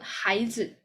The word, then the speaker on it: 孩子: 孩子. So the z will be like soft and very short. 孩子. Okay, 孩子. So this one is the neutral tone. So what is 孩子?